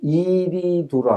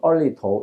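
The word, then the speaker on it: 二里头: 그 이유형에 해당되는 그 사례들이, 거기 앞서 본 유적이 이리두라고 하는데, 중국 발음으로 얼리도 이렇게 하는데, 이리두라고 하는 것은 하나라의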